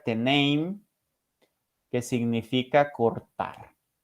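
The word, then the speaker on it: τέμνειν: Y el término anatomía viene de una palabra griega que se pronuncia teneim, que significa cortar.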